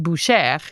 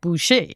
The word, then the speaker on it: Boucher: And that's why your last name is pronounced Boucher and not Boucher.